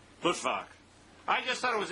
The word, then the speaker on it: Luttwak: How does he pronounce his name? Luttwak.